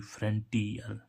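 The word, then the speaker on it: frontier: इसमें देखें यहां पर एफ आर ओ एन टी आई ई आर तो यहां पर भी आई का उच्चारण क्या निकल रहा है छोटी फ्रंटियर छोटी आ र है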